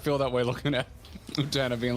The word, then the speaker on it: Utena: You're saying it right, as I've heard it. Utena.